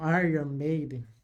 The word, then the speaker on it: Iron Maiden: sabe eu não resisto o Iron Maiden né ou Aran Maiden para falar para usar para a pronúncia correta tem uma música chamada